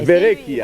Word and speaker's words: Verrecchia: Moi, je me dis que si tu es capable de prononcer Benezra, tu es capable de prononcer Verrecchia. Verrecchia, voilà.